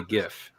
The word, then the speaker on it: GIF: I would say GIF because it's got the hard G and it would be a graphic interface format.